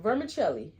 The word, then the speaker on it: vermicelli: It's pronounced like an H, but there isn't any H.